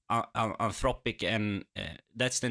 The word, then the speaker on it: Anthropic: to not participate in the AI race, like Anthropic and, that's the name, right? Anthropic? Yep, Anthropic.